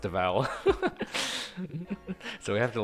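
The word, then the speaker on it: Devall: would say de deal not Deval but it's pronounced Deval so we have to like stop and like say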